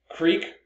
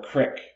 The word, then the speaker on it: creek: Another example is pronouncing creek or crick. I'm from Southern California, I say creek. People up here commonly say crick, different dialects.